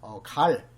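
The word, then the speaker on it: Gall: 것이 나바타의 관상학이나 그리고 칼 또는 골이라고 발음하는데 고래 골상한이란 것들이 실중지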